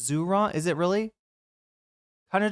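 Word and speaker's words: Zohran: Am I mispronouncing Zoran's name this whole time? It's not Zoran, it's Zuron.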